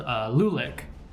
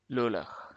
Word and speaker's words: Lulach: your main antagonist called Lulic, or Lulach. I'm just going to call him Lulic. I don't know if I'm mispronouncing it. I'll put on the correct pronunciation right now. Lulach.